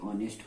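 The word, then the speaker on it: honest: के आवर हो जाएगा, और इसमें एच न पढ़ के ऑनेस्ट हो जाएगा, और इसमें एच न पढ़ के टॉमस हो जाएगा।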